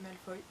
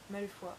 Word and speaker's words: Malefoy: et vomit c'est vrai je dis malefoy alors que c'est mal fouilles malefoy bref voilà mais jean